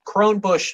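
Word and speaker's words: Kronebusch: It's the crone bush. It's spelled K-R-O-N-E-B-U-S-C-H.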